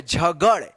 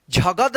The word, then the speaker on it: झगड़: यहाँ पे देखिए JHA से झ, GA से ग, D से ड होगा, द नहीं, झगड़, झगद नहीं होगा, द यहाँ पे उच्चारण नहीं होगा, ड़ होगा, झगड़।